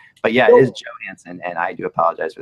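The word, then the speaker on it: Johansen: What the heck are you doing when you keep calling the center for the Preds Johansson? He is not from Europe. It is pronounced Johansson.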